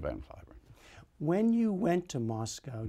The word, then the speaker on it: Van Cliburn: So all the time I was there, I never told them that in this country we pronounce it Van Cliburn. So I have two names, Van Cliburn and Van Cliburn.